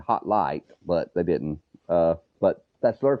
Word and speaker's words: HOTLIGH: So the HOTLIGH, said it right, the HOTLIGH, and that's another thing.